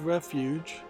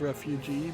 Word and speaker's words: Refuge: Next we have a game on Steam called Refuge, which I almost mispronounced as Refugee, but it looks like it's probably an asset flip hack and slash game.